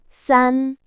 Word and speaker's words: 三: They are pronounced E R sun.